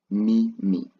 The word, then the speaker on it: mimi: So I I will be translated to mimi me me. That's how you pronounce I in swahili me me.